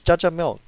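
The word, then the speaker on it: jajangmyeon: can the first time i'll admit i kind of butchered the name but but my second and third time those room was fine it's jajangmyong and that being said he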